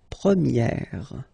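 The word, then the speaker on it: première: okay prier and then for the feminine form you will get Premier okay so it's open this a sound Premier prier and then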